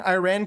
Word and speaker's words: Iran: YoWell Dingle, am I saying Iran correctly?